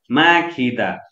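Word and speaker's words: 먹히다: अब तर यहाँ त के छ भने एउटै शब्द हो नि त यो माखिदा, अर्थात् गको सट्टामा ख उच्चारण गरियो।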